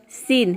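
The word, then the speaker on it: scene: सीन, सीन means होता है दृश्य।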